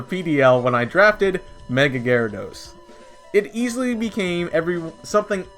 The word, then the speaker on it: Gyarados: would recommend number three jaradidos yes i typically pronounce it as juradados and i know it's actually pronounced gyarados but don't be too mad at me gyarados